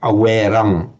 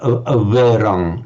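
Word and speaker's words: averaṃ: You will hear people pronouncing it with a straight awerang, awerang. But it's probably it was probably pronounced something like averang, not a full v, but averang.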